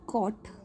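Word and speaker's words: caught: ऐसी कॉट, कॉट, जो GH है वो साइलेंट है, स्पेलिंग में तो है लेकिन जब मैं उस वर्ड को प्रोनाउंस करती हूँ तो इन लेटर्स की साउंड नहीं आ रही है, ठीक है।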